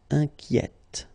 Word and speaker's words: inquiète: And so journalier will become journalière, or then inquiet will become inquiète. Okay, so in that case, it's already open, the sound inquiet. Okay, so you only hear the T, inquiète.